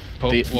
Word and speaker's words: pwned: There's already a spelling for pawned. If it was pwned, it would have an O in there, though. Pwned? Right? Yeah. Right. So I say pwned. The O is silent.